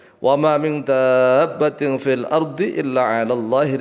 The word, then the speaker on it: دَابَّةٍ: Wa ma min dabbatin, jadi bacanya dab gitu ya. Wa ma min dabbatin fil ardi illa 'ala Allahi rizquha wa ya'lamu mustaqarraha wa mustawda'aha kullun fi kitabim mubin.